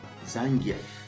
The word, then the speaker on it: Zangief: hilarious of course ah the big old bear zangief as he's properly pronounced you know what does that give me